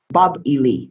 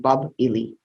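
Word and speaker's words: Bāb-ili: Bab-Ili is how it's pronounced, Bab-Ili.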